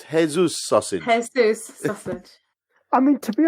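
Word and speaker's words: Jesús: without his legacy okay final 1/3 is then Jesus sausage Jesus sausage yes well it's actually pronounced hey-zeus sausage I mean to be honest that doesn't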